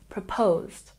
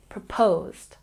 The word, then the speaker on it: proposed: double check our pronunciation proposed we stress the second syllable proposed proposed number eight I am